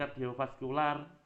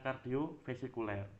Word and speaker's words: kardiovaskuler: Kemudian kardiovaskuler boleh, bukan kardiovasikuler.